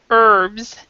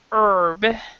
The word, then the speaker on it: herb: seafood fruit and vegetables herbs dish cooking method okay this word right here has two pronunciations I pronounce it herb another person might pronounce it herb and they'll say the H from my understanding it